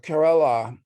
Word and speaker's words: Kerala: of the world uh kerala in the southwest i don't even know how to pronounce it kerala i always said you had it right the first time yeah yeah this is